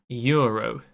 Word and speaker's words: gyro: It's pronounced Euro. Silent G, like GNOME.